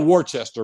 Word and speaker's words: Worcester: The always good questions is when you're in Massachusetts, is it Worcester, Wasta? Different. Yeah. It's Worcester. It's spelled Worcester, but it's Worcester.